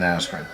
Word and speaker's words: Askren: Mainly because Ben Askren has no hands.